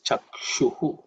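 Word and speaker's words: चक्षुः: Again, chakshur is also because of sandhi, it is chakshuhu. Okay. In terms of pronunciation, it should be reasonably simple. This ukshu is actually the cerebral sh. So the tongue should ideally be bent and pointed upwards.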